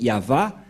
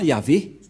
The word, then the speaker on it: YAHVAH: dire non c'est pourquoi il est écrit ici yava et son nom c'est yava son nom et vous voyez que même les catholiques romaines ont fait une erreur là-dessus avec les protestants qui ont fait JOV et les catholiques romain y avé et je sais pas